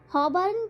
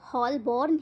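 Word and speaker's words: Holborn: हॉबर्न को वे हमेशा हॉलबॉर्न ही कहते हैं। उसके स्पेलिंग ही ऐसे हैं। अंग्रेजी के साइलेंट लेटर हमेशा ही उनको परेशान करते थे।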